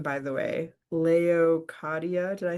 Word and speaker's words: Leokadia: Leokadia, did I say it right?